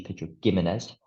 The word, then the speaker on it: Pedro Ximénez: Ximénez with a G, so spelled like Pedro Jimenez, but with a G, Pedro Ximénez.